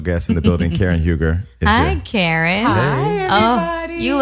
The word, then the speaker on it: Huger: So did I say, so the last name is Huger? It is Huger.